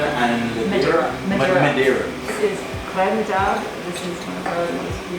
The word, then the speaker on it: Redoutable: A lot of people call it redoubtable. It is not redoubtable. It is actually pronounced Redoutable. Redoutable? Redoutable, like R-E-Y-D-O-O, and then T-A-A-B.